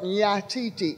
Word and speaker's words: nyatiti: And it's spelled Nyatiti, N-Y-A-T-I-T-I.